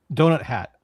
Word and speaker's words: Douthat: Donut Hat, I think it's pronounced.